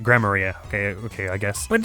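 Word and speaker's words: Gramarye: Troop Grammary? Huh? No. Okay, well that should give me a hint about how to say it. Greymaria.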